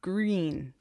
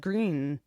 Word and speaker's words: Gruen: Green. Oh, she wrote Gruen, but then pronounced green. Thank you for doing that. I would have said green, but it's green.